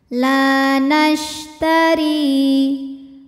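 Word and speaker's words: لا نشتري: Huruf ro dibaca secara tarqiq sebab ro berharokat kasroh. Cara bacanya, ro dibaca tipis. Ri. La nashtari.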